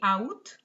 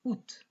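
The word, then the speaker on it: août: it used to be out but now it's ut with the t pronounced so uh and then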